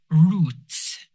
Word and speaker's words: roots: The first word is roots. This is pronounced with an oo sound. Roots.